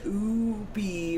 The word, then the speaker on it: ube: Ube, I choose to pronounce it Ubi, which rhymes with booby, because I'm basically a 12-year-old boy.